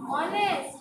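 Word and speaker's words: honest: जब हम बोलते हैं तो ऑनेस्ट नहीं बोलते हैं, हम क्या बोलते हैं? ऑनेस्ट। एच is silent, H is silent, इसलिए बोलते हैं।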